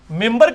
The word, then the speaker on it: منبر: ممبر کے سپیلنگ کیا ہے؟ منبر, لیکن پڑھا کیا جاتا ہے؟ کیوں؟ کیونکہ نون کے بعد, نون ساکن کے بعد با ہے, یہ نہیں ہوتا لکھا جاتا ممبر.